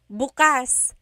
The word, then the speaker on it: bukas: syllable that means open if you say buas buas emphasis is on the first syllable that means tomorrow very interesting like oh